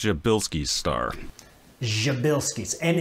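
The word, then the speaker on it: Przybylski: this star is called your Bilski star habilities and is not spelled how it's pronounced nothing like it it's a Polish surname and this can always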